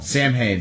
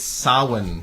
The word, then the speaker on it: Samhain: It's Samhain. Samhain. I was close. Not a real thing. Devon Sawa? That's not a real thing? It's spelled Samhain, but it's Samhain.